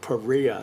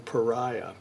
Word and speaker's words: Paria: a company called Korea that seems to be the way that they pronounced that term Paria rather than pariah and I ordered this